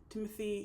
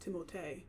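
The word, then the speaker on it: Timothée: Adrien Brody the brutalist Timothy shalam a complete unknown which apparently his name is supposed to be pronounced timote sometimes I go back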